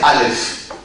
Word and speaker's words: Aleph: On aurait pu penser que le Seigneur allait commencer les Écritures avec la lettre Aleph. Aleph est une lettre muette. On va la prononcer comme le H muet en français.